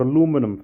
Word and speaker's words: aluminium: I just got some aluminium foil or aluminum foil As Americans say the aluminum signs aluminium